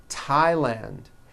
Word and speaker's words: Thailand: like to point out although these next words and names are spelled with a th they are pronounced as if they were spelled with a normal t t like that and these words are thomas